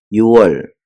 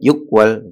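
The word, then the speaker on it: 유월: jadi misalnya bulan eh bulan 6 itu bacanya bukan Al secara apa namanya secara apa Huruf kan yuk Ya yuk Tapi bacanya itu bukan yuk tetapi y Yual ya gitu Bukan ukal Ya sama dengan dengan eh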